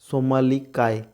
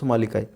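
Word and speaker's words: somniloquy: বলা, যেটাকে বলা হয় সোমালিকায়, ঠিক আছে। বানানটা দেখো অন্যরকম আছে কিন্তু উচ্চারণ হবে সোমালিকায়, ঠিক আছে।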